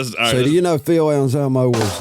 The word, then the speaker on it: Anselmo: Anselmo?